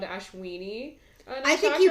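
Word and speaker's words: अश्विनी: And the first section of Aries is called, I might pronounce this wrong, but it's called Ashwini. I think you pronounced it perfectly. Ashwini sounds exciting. It's Ashwini.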